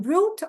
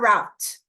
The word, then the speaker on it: route: Two-tier appellate system, sistema recursal com duplo grau de jurisdição, and route or route.